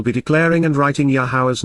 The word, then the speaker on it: Yahowah: emphatically States expressing at this moment Cal perfect yahwah yahwah the proper pronunciation of yahwah our eloa God has directed